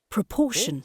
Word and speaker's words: proportion: Okay, Proportion. see there, the sound is louder when you pronounce person.